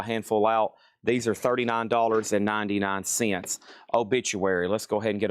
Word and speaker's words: Obituary: Obituary. Obit-u-ary. Pronounced obituary.